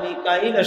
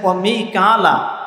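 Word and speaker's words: ميكائيل: জিবরীলের শত্রু হয় এবং মিকাইলের শত্রু হয় কার শত্রু হয় জিবরীলের শত্রু হয় মিকাইলের কি হয় শত্রু হয় এখানে মিকালা শব্দটা আসছে মিকাইল এই শব্দটাকে কয়েক ভাবে পড়া যায় মিকা মিলা কোরআনে কারীমের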